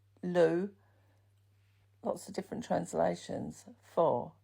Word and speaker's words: Lugh: Sometimes that sun god is pronounced as Lag, Lugh.